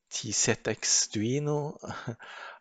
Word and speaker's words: TZXduino: going to select the t set x duino i probably said it wrong i said tcx but t set x and then now it